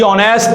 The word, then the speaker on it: honest: no why because Edge does not have any sound here in this word it is silent and we are to